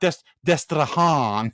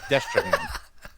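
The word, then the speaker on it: Destrehan: So it's not Destrahan, it's just Destrahan. Destrahan.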